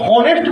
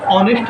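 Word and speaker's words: honest: एच दिख रहा है, ये कई लोग हॉनेस्ट पढ़ते हैं, हॉनेस्ट नहीं होता है, ऑनेस्ट होता है ना, उच्चारण सही करना है, ऑनेस्ट होता है, ऑनेस्ट है ना।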